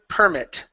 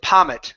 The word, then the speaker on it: permit: And your last one is the word permit. Okay. The first time it came around you said pommit. Saying p. The next time here you said it correctly.